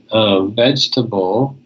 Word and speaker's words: vegetable: in in red vegetable many of my Vietnamese students will say vegetable vegetable okay but in English we don't say the second II after the G and it's not the G sound it's the J sound because you have the GE together here okay so this here is